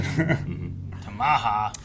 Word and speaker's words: Tamaha: Tamaha, Oklahoma. Mm-hmm. It's almost like tomahawk. Tamaha is like more like Pacific pronunciation. Tamaha.